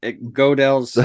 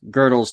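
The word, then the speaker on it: Gödel: best as you can girdle girdle oh girdle that's a g um loud so it's good that is true I've been saying it wrong for so many years you never corrected me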